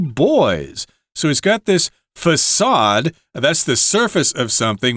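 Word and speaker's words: façade: of the building and usually the letter c there has a little kind of a backward C underneath it uh to indicate that the letter c is pronounced as an S facade and this is the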